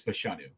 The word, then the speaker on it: Fashanu: it's fashanu or something should know Dame bruger's pronunciation guide says fashanu fashanu okay said it differently than how I've